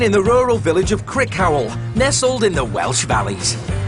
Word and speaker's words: Crickhowell: Crickhowell. No, it's over there. That's how you pronounce it.